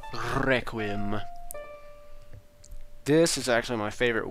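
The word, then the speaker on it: Requiem: back to the desert I always called it requim of spirit when I was little but now I know it's pronounced requim this is actually my favorite warp melody in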